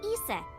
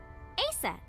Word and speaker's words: Isis: Horace's mom is named Isis, but in ancient Egyptian, it's pronounced closer to Ise or Aset.